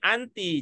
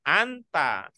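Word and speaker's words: أنتِ: Berarti domir yang ada di 4 ini juga bacanya anti. Jangan bacanya anta.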